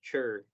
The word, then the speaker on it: teacher: No es chair al final, sino chur, teacher. En lugar de teacher, vamos a decir teacher, chair, chair, chair.